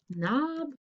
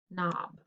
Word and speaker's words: knob: to figure this out knob knob it's this one guys it's the kn so let's underline the kn and the k is silent cross it off cool